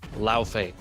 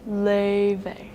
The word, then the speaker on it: Laufey: In the God of War games, it's pronounced like this. Laufey. But for the Grammy Award-winning musical artist who's also in Fortnite, she accepts two pronunciations. Leve. That's the more English one, and then in true Icelandic form, Leve.